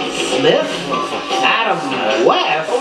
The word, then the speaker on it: West: When it comes to Batman, remember, West rhymes with best.